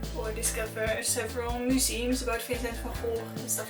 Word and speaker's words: Vincent van Gogh: Something else that you must know of Noord Brabant is that it's the province where Vincent van Gogh it's pronounced as Vincent van Gogh, was born.